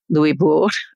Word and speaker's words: Louisbourg: The fortress of Louisbourg did fall, Louisbourg, to try to stick to the French pronunciation, but was returned to the French.